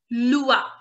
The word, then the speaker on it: loi: Similarly, L-O-I will become lua. Lua.